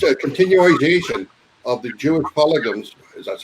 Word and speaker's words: pogroms: and they were just a continuation of the Jewish pogroms, as that's how it's pronounced, that had been racking Europe for over 500 years.